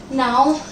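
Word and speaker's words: know: K-N-O-W, this is no. This is no. Here K is silent.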